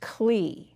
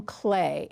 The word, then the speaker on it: Klee: Now you would think that is pronounced Klee, but we call him Clay.